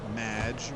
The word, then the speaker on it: Madge: It's Madge, which rhymes with badge, as in duh, and no as in more than you.